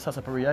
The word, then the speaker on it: sarsaparilla: We have cocoa mecca, which is a Jamaican sarsaparilla or sarsaparilla for those who don't call it, but sarsaparilla is the real way to pronounce it.